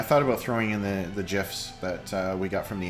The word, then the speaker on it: GIF: It's created by CompuServe back in the day, and it's pronounced GIF.